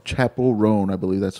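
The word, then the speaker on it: Chappell Roan: Chapel Roan? Chapel Roan, I believe that's how you say it.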